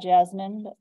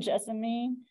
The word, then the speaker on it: Jessamine: would be Carolina Jessamine some people go ahead and call that Jasmine I like to say it how it's spelled and Jessamine this also is blooming